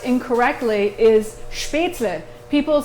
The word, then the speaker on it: Spätzle: usually pronounced incorrectly is spätzle. People say spätzle. Spätzle. They say spätzle, and it drives me So bad. say it the correct way. Spätzle. Spätzle? Spätzle. Spätzle. It's L-E, not E-L. Spätzle. Spätzle.